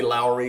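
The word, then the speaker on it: Lauri: my busts we've got Lowry marketing I say Lowry because I think that's how they pronounce it in Finland Lowry marketing and I've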